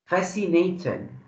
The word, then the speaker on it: fascinating: Fascinating. Fascinating. Fascinating. عايز أقول لك على ملحوظة في النطق بمناسبة إنك سألتي. السي في غالب أحوالها مش بتتنطق سس. بتنطق اللي هي حرف الكي يعني.